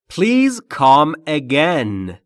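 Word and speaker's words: please: Pleas Pleas Pleas یعنی بارها گفتیم پلیز نیست بازم تو کلاسا شنیده میشه زبانآموزا میگن پلیز حتی زبانآموزان تو سطح‌های بالا آقا پلیز نیست پلیز بین پی و ال صدایی نیست پس میگیم پلیز لطفاً کام آمدن اگن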